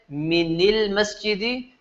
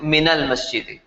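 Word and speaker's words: مِنَ الْمَسْجِدِ: Because if you said minil masjidi, it's just too weird for the Arabs to pronounce on their tongue, so they made it into minal masjidi.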